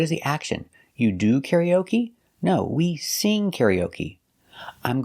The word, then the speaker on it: karaoke: We put the stress on the first syllable, karaoke, and the third syllable. First and third. Karaoke. Karaoke. So what is the action? You do karaoke?